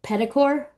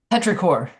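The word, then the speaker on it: petrichor: Is it pedicor? Petraor. Petraor. I missed the R.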